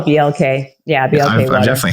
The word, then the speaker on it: BLK: I don't know, how do you say it? Black or BLK? I call it BLK.